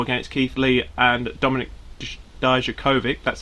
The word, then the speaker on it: Dijakovic: North American title against Keith Lee and Dominic Dijakovic, that's how you say it, in a triple threat, and then he lost again to Keith Lee recently.